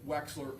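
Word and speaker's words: Wechsler: I want to say it correctly. That would be the weights the Wexler adult intelligence scale.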